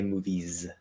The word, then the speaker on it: movies: That stood out to me because we don't, when we're thinking about the theater, we would say movies with it's spelled with an S, but it's a Z sound.